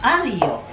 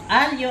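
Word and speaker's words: aglio: semo at yung bawang ang tawag diyan ay alo alo in silent with silent G so a g l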